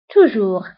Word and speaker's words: toujours: دائما toujours. ضدها أبدا أو jamais. دائما toujours. ضدها jamais. هنا أيضا toujours و jamais كنكتبوها بأس في آخر الكلمة ولكن لا تنطق.